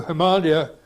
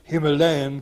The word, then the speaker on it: Himalaya: For its plural or adjectival forms, you have to revert to the anglicised pronunciation, or in other words, to the Malaya sound-alike rather than the Somalia sound-alike. Hence, Himalayan club rather than Himalayan